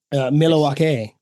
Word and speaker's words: Milwaukee: the greater Milwaukee area milake no don't pronounce the L that's how I know